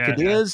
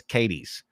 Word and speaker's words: Cadiz: And around Kentucky, we have a bunch that are pronounced Southern.